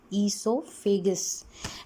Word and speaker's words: esophagus: Pronunciation भी आपका clear होना चाहिए. ईसोफेगस.